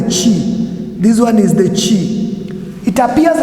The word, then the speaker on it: chi: get it better the next one is the chi the chi the chi the chi we have what is known as the chi this one is the chi it appears like an x but the greek